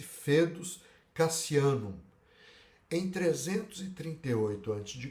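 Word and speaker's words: foedus: a liga tratado este que se chamou fetos escreve-se foedos mas pronuncia esse fetos Cassiano em 338 antes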